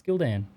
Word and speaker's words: Gildan: Who else pronounces it Gilden? I've never I mean, I guess Gilden, you could say that, but I just say Gildan.